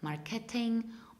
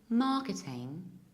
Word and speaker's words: marketing: similar problem here because usually people stress this word wrongly they pronounce it like marketing or marketing whereas the correct pronunciation is marketing English English and marketing